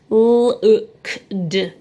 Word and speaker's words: looked: It's just the ed. Sounds more like a t. Looked. You can hear a t sound at the end, but yet there's no t. So that is looked. You can easily blend look, and then remember that the et is making a kt sound.